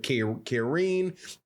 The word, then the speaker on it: Karine: Ukraine whose first name his first name is Karine, spelled like it's Karen, but Karine, a Ukrainian fighter with one loss.